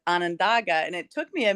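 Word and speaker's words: Onondaga: the correct pronunciation of you were saying Onandaga, and everybody that lives there says Anandaga.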